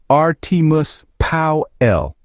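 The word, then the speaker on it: Artimus Pyle: Now, you got to say it right. Artus Pow L. That's how the folks down there say it.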